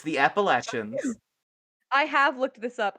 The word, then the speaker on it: Appalachia: don't know what does old gods appalachia is the right way to pronounce it no way no it's appellation what do you want me to say appalachia say it's the appalachians i have looked this